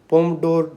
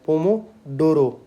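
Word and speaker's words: Pomodoro: है energy management और पोमडोर ये क्या होता है पोमोडोरो सॉरी इसको मैंने गलत प्रोनाउंसिएशन किया पोमोडोरो है ये पोमोडो टेक्निक तो इसके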